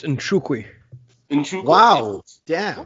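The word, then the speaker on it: Nzechukwu: It's pronounced Nchukwi.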